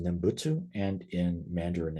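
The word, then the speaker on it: 念仏: In Japanese, it's pronounced Nembutsu, and in Mandarin, it's pronounced Nyanfo.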